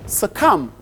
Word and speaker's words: succumb: Elijah, can you spell the word succumb? Oh, English is so outlandish. Succumb is SUCCUMB. Succumb. The B is silent.